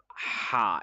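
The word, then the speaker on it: ح: It comes from the middle throat. The letter ha comes from the middle throat and it is sharp as a knife. The sound is very sharp in it. It's very sharp. We have to use force in the middle of the throat. Some people call it ha, but that is totally wrong. This is not ha.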